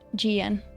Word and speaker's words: Jian: That was actually pretty decent pronunciation. If you didn't hear, she said Jian, which is pretty decent.